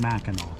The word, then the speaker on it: Mackinac: is black and that spelled like mackinac pronounced mackinaw that's what we learned